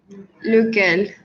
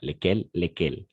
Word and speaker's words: lequel: lesquels ou lesquels, d'accord, lesquels. Mais dans ces cas-là, on va prononcer lequel, d'accord, lequel, et singulier, lesquels, pluriel, lequel, ok, c'est ça. Euh, Pas lesquels, lequel, E fermé, d'accord?